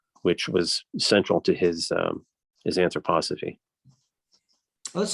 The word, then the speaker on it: anthroposophy: Steiner had his own kind of esoteric Christianity, which was central to his anthroposophy. Well, that's how you pronounce it.